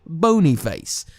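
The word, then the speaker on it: Boniface: looked it up and it literally is pronounced like bony face because it was his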